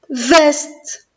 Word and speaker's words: veste: Alors, quand je vois la lettre E suivie d'une consonne, je prononce E. La lettre E avec l'accent grave E. Alors, V, E, S, veste, veste.